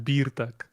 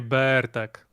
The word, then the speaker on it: Birtek: Birtek. Like Bartek, but with Birtek. Like beer BIR or BEER. Birtek, a nie Bertek. So BIRTEK. Mm-hmm. BIR. Yeah, if it was EE, it Veza. would be Bertek.